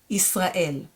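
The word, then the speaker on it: ישראל: Yis, Ra, and then I have a silent letter, Aleph, and E vowel and Lamed, El. Yis, Ra, El, Israel.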